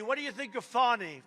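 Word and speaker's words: Fani: state Fulton County what do you think of fonny f do you think fonnie huh F A ni I that's pronounced Fanny but you're not allowed to say it's fonny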